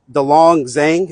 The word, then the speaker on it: Delong Zheng: It's officer Dong Zang and I'll spell it.